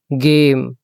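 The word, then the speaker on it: game: अच्छा नेक्स्ट आ जाए ई अगर किसी भी लफज़ के एंड पे आएगा ना वो तकरीबन साइलेंट ही होगा पहले भी बताया है तो यह बनेगा जी ए गे और एम जो है वह म की आवाज आएगा गेम खेल ने म ने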